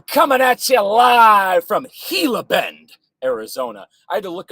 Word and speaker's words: Gila Bend: show where I'm coming at you live from Gila Bend Arizona I had to look up the pronunciation of that word Gila Ben Arizona and